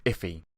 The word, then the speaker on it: IIFE: for immediately invoked function expression and it's actually pronounced if e and understand why you might use it let's